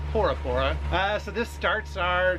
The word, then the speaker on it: Bora Bora: we are headed to Bora Bora or por por there's no B in the alphabet here yeah there's no B in the alphabet so we've been told that it's actually pronounced por pora uh so this starts